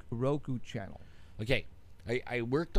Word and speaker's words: Roku: on R crew R crew how do you pronounce Ru Roku now do you have to purchase something in